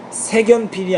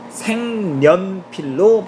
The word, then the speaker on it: 색연필: 기억이 되어 마으로 발음되는데 색연필은 색연필이 아닌 생면 필로 발음합니다 생면 필로 발음한다 왜